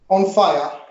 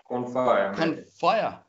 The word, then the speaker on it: Confaya: I'm very lucky to have with me today, I have Roland and Oliver from, how do I pronounce it, Confaya Media? Confaya. Confaya.